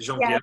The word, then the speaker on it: Genevieve: Genevieve.